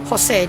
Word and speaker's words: Jose: Jose. J O S E. That's how you usually spell Jose. It's it's the J that's pronounced with an H.